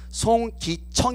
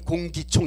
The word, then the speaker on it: 송기청: 페이지 21 페이지에 있는 송 기 청 입니다 어떤 분들은 발음을 잘못 해가지고 제가 어 국회에 따가 적인 예약을 했는데 가봤더니 공기총 님께서 왔더라구요 아 저는 안에 소나무